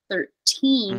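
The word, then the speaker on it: thirteen: you can slap that but you can't flap 13 because teen is the stressed syllable 13 like detained so let me hear 13 33.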